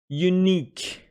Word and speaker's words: unique: Unique, with the stress on n, the second syllable.